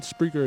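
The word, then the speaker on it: Spreaker: download the mobile app spreer or tune in spreer is spelled SP s p r e a k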